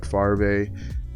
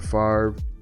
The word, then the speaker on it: Favre: won't materialize in anything Brett fave um I'm intentionally saying his name wrong just so you guys know um let's see Brett Favre not a huge fan